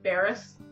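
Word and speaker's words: Bearss: it's spelled b-e-a-r-s-s yeah or something and it's pronounced barris his father asked if it was bare ass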